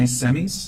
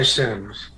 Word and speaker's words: Sims: Next, we will hear from Semis, and I apologize if I pronounced your last name incorrectly. Yes, thank you. And it's Sims.